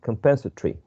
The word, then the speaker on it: compensatory: Compensatory, because sometimes when you don't see this, you tend to think that it has less syllables. But actually, you have to consider this. So 1, 2, 3, 4, 5 syllables. 5 vowel sounds, 5 syllables.